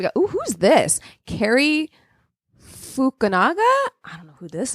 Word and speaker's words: Fukunaga: Cary Fukunaga. How do you say his name? Fukunaga is what it looks like. Fukunaga.